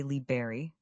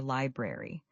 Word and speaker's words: library: Many learners say liberry, dropping the first R, but the correct pronunciation is libre or library. You need to include that R sound after the B.